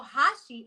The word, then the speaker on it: Hashi: like so what happened so Hashi h a shi is how we pronounce it and how my family pronounces it and my dad used